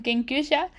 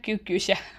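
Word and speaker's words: 研究者: pronunciado mal y que realmente es un kenusha y no una cuukusha porque él pensaba que mi que mi esposo era como un médico o algo así.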